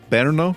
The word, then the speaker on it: Brno: We'll talk today about the Farnsworth House and we'll talk also today about the Villa Tugenhhat in how do you pronounce it? Bernno Berno Berno Berno as you might expect as with all modernist houses um they require a lot of maintenance.